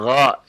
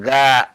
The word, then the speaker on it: غ: Gha. Jangan dibaca ga ya. Ya, gha bukan ga ya, itu tebal ya.